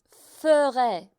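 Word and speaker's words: ferai: Pour le verbe FAIRE, c'est pas la prononciation faire, mais c'est FER le son c'est comme l'heure, cela va faire feurai,, 'c'est la prononciation phonétique perso de Sylvie, mais mes étudiants adorent ça.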